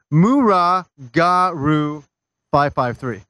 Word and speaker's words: Muragaru 553: I guess I'm that would gonna be- pronounce this because I'm so proud of myself being able to pronounce this correctly now. It is Muragaru 553.